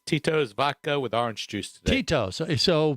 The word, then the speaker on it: Tito's: you say it like titos titos I don't know isn't that how it's pronounced I'll go get the bottle you tell me Tito's Tito's oh Cheetos yeah like uh second syllable really hard is the orange juice